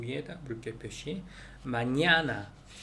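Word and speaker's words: mañana: 마냐나 할 때 두 번째 N에다가 물결 표시. 마냐나. 우리말에 B 발음이 되는 거, 그다음 빼라고 하죠.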